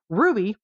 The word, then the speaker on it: RWBY: on like at all Ruby which is spelled RWBY if you want to